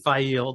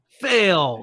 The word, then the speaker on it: Faile: Like, there are many people who pronounce Fail as just fail. Yeah. Fail, because it's spelled Faile, and they just go hard on fail. Yeah. But no, Fail.